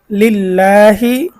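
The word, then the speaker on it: لِلّٰهِ: এজন্য আলহামদু লিল্লাহি লিল এই যে আল্লাহ শব্দের লামকে আমরা এখানে চিকন করে পড়বো।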